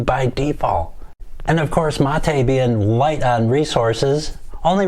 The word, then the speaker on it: Mate: where does the name come from the name m-a-t-e pronounced mate there it is mata comes from yerba